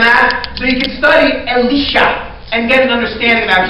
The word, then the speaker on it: Elisha: And I believe in English it's normally pronounced Elisha, the guy that came after Elijah. But in Hebrew it's Elisha.